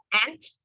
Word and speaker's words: aunt: 이모, 고모는 저희는 통합적으로 aunt 아니면 aunt라고 해요. 둘 발음이 똑같아요. 네, aunt, aunt. 그 개미 발음이랑 똑같아요.